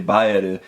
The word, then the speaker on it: Bael: If you're reading the Japanese pronunciation, it's actually Baeru, and I don't see anyone actually calling it Baeru, so I'm just gonna call it Bael.